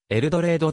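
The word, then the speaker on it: Eldorado: の産業があるエルドラドは地元ではエルドレイドと発音され老眼第 2 の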